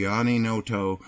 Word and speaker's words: Giani Noto: the Giani Noto YouTube channel and that's how you pronounce my name Giani is Italian for John and Noto is a fishing Village in Sicily where my father was from so it's I have